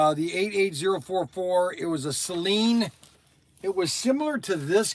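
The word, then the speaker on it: Saleen: Hey Siri, how do you pronounce S-A-L-E-E-N? Celine.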